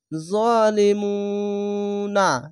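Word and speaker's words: ظالمون: তা মিম পেশ তুম জালিমুনা এখানে দেখেন না হচ্ছে এখানে থামার জন্য জালিমুন এভাবে থেমে যেতে হবে যদি পেশের পরে ওয়াও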